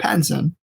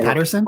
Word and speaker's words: Pattinson: but they gave us a trailer of Robert Pattinson, the Batman. Did I say his name right? Yep, Robert. Yeah. What did you say So last time? I don't know, Patterson. Robert Paddington.